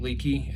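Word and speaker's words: Leki: one uh i'm using i think it's leaky as how it's pronounced is that how's that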